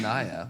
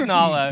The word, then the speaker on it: Nala: it was nice no it's nylon it's not naya what it is nyla it's nila nala we all say it wrong it was nala yeah nala apparently so